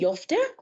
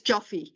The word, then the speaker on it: Joffe: Thank you so much, Mrs. Jofte. Did I pronounce that right? It's Joffe, Joffe.